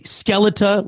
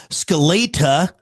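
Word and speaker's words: Skeletá: Some may say Skeleta, like skeleton, but it's got that acute little accent above the A. So I also saw Skeleta, like the Russian way, or Skelena.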